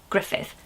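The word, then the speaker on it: Gruffydd: I wanted to spell it G-R-U-F-F-Y-D-D, Griffith, and Griff for short.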